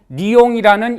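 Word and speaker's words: Lyon: 이 도시는 또한 그 발음이 영어의 리오와 동일한 리옹이라는 이름으로 불리기도 합니다.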